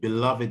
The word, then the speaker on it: beloved: My beloved mother, my beloved mother, my beloved mother. ما اسمهاش beloved. تمام. انا بنطق من ايه؟ من الترانسكريبشن. شايفين الترانسكريبشن بيقول ايه؟ beloved, beloved, beloved. The stress is on the second syllable.